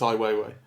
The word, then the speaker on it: Ai Weiwei: So, it's Iwwayiwayi.